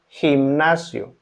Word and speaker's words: gimnasio: Letter G is pronounced as a J in gente. Gente. Gente. Gente means people, or gimnasio.